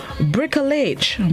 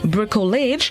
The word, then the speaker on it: bricolage: day this morning's word of the day is brickelage brickell age it's spelled b-r-i-c-o bricolage it's unknown which means a construction made of